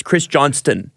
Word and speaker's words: Johnston: arbitrator this Courtney Chris Johnston by the way it's spelled Johnston everybody calls him Chris Johnson though but it is Chris Johnston well is it like a silent T I don't know Carolyn